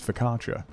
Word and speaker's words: focaccia: in your house is how you say focaccia it's focatra I don't know that